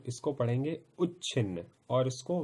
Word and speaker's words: उच्छिन्न: ध्यान दीजिए, उच्चारण भी मैं आपको साथ के साथ में समझाता हुआ चल रहा हूं। इसको पढ़ेंगे उच्छिन्न और इसको विच्छिन्न।